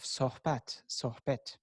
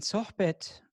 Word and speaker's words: sohbet: culture is the culture of sohbat and sohbet that's the turkish pronunciation of the word sohbet is divine conversation with